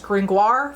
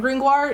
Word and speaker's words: Gringoire: name of Pierre Gringoire, whose name I will pronounce the anglicized Gringoire for the rest of the time, just to be in line with adaptations, who was a thinly